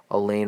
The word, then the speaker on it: Alain: let it be her Alain rhymes with pain I'll probably never find